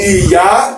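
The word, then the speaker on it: Ìyá: Baba is got a low sound to begin with, but Iya, because it's is do, mi, Iya. So you're going to say it like this: Iya, do, mi.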